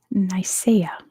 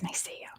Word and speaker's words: Nicaea: And it was Nicaea, or Nicaea, is that how you pronounce it?